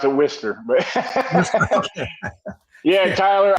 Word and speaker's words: Worcester: Yeah, we pronounce it Worcester, but.